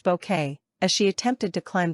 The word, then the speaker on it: Bucket: The comedy followed the trials and tribulations of snobby Mrs. Bucket pronounced bouquet as she attempted to climb the social ladder.